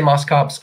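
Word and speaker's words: Moschops: and mine Moss chops some people say Moss cops I just I feel like has to be Moss chops I don't care what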